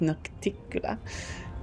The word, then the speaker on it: Nocticula: It's pronounced Nocticula, ruler of Alishinura and the Midnight Isles, a powerful demon lord, and the one they call her Lady in Shadow.